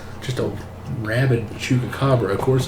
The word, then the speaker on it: chupacabra: A chupacabra. Chupa? It's not chuka.